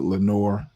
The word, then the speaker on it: Lenoir: Democratic-leaning counties like Pitt, Lenoir, and they may pronounce it Lenore, and Greene move to District 3.